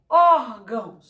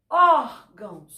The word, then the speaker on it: órgão: um acento circunflexo e na palavra órgão órgão war sai com maior intensidade então ele será também